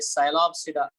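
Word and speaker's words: Psilopsida: एक है साइलोप्सिडा, देखो है ना, पी साइलेंट है कि नहीं।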